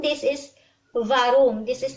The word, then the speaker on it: warum: Like the V as in victory in English. That is how we pronounce W here in Germany. So this is not warum, this is warum.